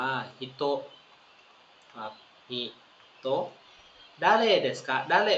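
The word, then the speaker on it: 人: อโนหิต อโนหิต ฮิตโต นะ ฮะ อ่าน ว่า ฮิตโต ครับ ฮิโต ดาเล เดสกะ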